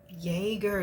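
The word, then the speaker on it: Jäger: one right but this is how it was pronounced yeah Jagger that's how you pronounce jger Jagger okay so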